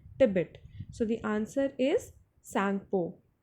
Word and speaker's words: Tsangpo: So the answer is Sangpo. Tsangpo, wherein the letter T is silent.